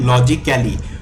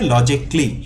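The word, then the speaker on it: logically: শব্দটাকে অনেকেই ভুল উচ্চারণ করে বলতে পারেন লজিক্যালি, উচ্চারণটা হবে লজিকলি।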